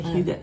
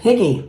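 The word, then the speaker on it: Hygge: Cuz everybody's like, "Higgy, the higgy teacher." I always thought it was hi. And she's like, "It's huga."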